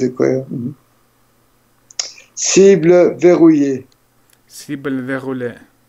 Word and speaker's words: verrouillée: Cible verrouillée. Verrouillée. Elle не читается? Non. Verrouillée.